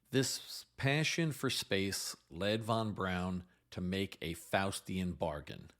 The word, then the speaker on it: von Braun: Is it von Braun or von Braun? According to his daughter, the correct pronunciation is von Braun.